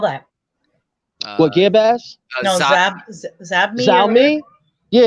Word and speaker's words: Xiaomi: And Xiaomi has maybe releasing the stick, like I said before, and it might be valued at $80.